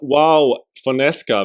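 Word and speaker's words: João Fonseca: Moving on, we got Joao Fonseca. That's how you pronounce it in Brazilian Portuguese.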